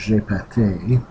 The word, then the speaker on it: GPT: called gpt and in france uh gpt uh pronounced j pate and which means i farted so it didn't